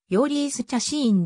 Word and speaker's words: ジョーリス・チャシーン: である西は発音指示によるとようリースちゃシーンで英語圏でもスペイン語読みのままとなっている英語読みでは精神となるなおはとこに元